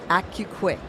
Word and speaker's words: AC-U-KWIK: you Qui okay so it's accurate and it's quick accurate and it's quick yes okay ACU quick wonderful actually I didn't